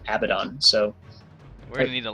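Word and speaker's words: Abaddon: a nerd so I I looked up the the pronunciation from like the origins which is the Torah and you know the Jewish religion and there they pronounce it abidon so going to need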